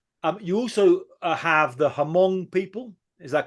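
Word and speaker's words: Hmong: you also have the hamong people is that correct pronunciation hamong or Mong Mong yeah in in Laos I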